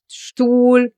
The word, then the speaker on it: Stuhl: letter S written here, in the combination with the letter T, it gets pronounced as Shta. And in the combination with the letter P, it gets pronounced as Shpa. Like in Stift, Stuhl, Sprechen, or Strasse.